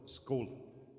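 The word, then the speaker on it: skål: I was told it's like a short O, skol.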